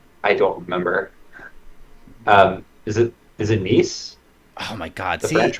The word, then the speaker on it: Nice: I called it nice, and they were like, "It's pronounced Nice." Well, it would be nice if it was English, but it's French.